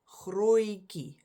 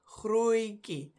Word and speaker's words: grootjie: a sound that is double O-I, oi. And that sound is the one you use in this word, grootjie, almost, grootjie. It's not in the spelling, it's not in the original word, but the pronunciation includes that.